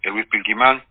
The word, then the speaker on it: Pilquimán: Di cómo se dice que mi nombre Luis Pilquimán, yo soy lonco de la comunidad huefu del